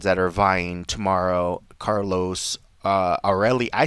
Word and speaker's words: Aurelie: I was like, but it's because it's spelled Aurelie. So I was like, how do you say that? And he's like, Aureli. I was like, Rue. I was like, the R-E is like Rue?